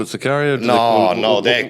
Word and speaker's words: Sicario: Video? No, ma'am. It's Sicario. Okay. Sicario. Sikivi? No, ma'am. Sicario.